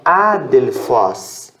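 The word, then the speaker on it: ἀδελφός: E fos tem um som mais aberto por conta do ômicron aqui. Então, adelphos.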